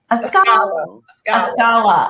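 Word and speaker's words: Askale: So that dies down, and Ascala, that's how you pronounce her name? Ascala. Okay, Ascala. She is so pretty.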